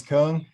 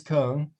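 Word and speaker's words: Küng: I'm just going to ignore those two dots above the U. Okay. You say Hans Kung, good enough. Hans Kung, the controversial Catholic theologian,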